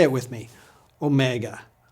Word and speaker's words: Omega: similar to our W but it's a vowel it's the large version the mega version of Omicron it always has had the same sound as Omicron but originally it was pronounced for a longer duration say it with me